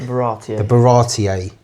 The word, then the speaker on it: Baratie: And then, the last bit we have here is the um How do you pronounce it? Baratie.